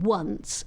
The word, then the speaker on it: once: and then ask yourself how you describe the letter O in once phonetically because it's pronounced as a W and the letter A in was is pronounced as an O kind of sound.